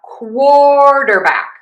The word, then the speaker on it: quarterback: So we're going to have quarterback. quarterback. Primary stress is on quart.